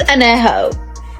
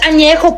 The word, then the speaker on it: Añejo: you can do is learn how to pronounce the tequilas correctly. Blanca, Reposado, Añejo. What the fuck is Añejo? It's Añejo, puñetas. Añejo.